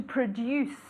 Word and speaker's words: produce: To produce. To produce. Como si fuera D-I-U.